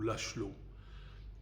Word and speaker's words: László: au sympathique nom de Miklos László, ou László, selon la prononciation qu'on préférera. Et c'est une pièce qui